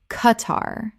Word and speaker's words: Qatar: Qatar. 2 syllables with the Q making a hard K sound, not a KW sound.